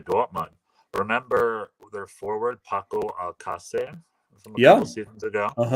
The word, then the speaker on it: Alcácer: interview mentioned, like he's saying Paco Alcácer, which is like American Spanish, or like Latin American Spanish, makes it easier. However, he's from Spain, so his name would be Paco Alcácer. That's how you say his name properly.